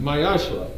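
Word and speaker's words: מעשר: It's pronounced Mayashra.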